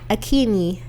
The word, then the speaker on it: Akinyi: like AKEEEE Yeah. NYEEEE or something like that. Emphasis on the E's.